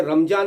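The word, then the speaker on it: Ramadan: एज ए धिम्मा, क्योंकि जैसे रमजान यहाँ बोलते हैं, जो पाक महीना रहता है इस्लाम का, और सऊदीया में जाएंगे तो वहाँ रमदान बोलते हैं। तो वो दा और जा में कुछ प्रोनाउंसिएशन का कुछ चक्कर है वहाँ पर।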